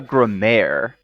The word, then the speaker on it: grimoire: I think it's pronounced grammar. Yeah, exactly. Gremayre? So the origin of the word actually comes from the French grammaire, which means grammar, and ultimately from Latin and the Greek meaning just letters.